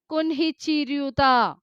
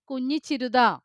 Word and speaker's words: കുഞ്ഞിച്ചിരുത: എല്ലാവരും അവളെ എങ്ങനെയാ വിളിക്കുന്നത്? കുൻഹിച്ചിരുത. അവളുടെ പേരെന്താണ്? കുഞ്ഞിച്ചിരുത.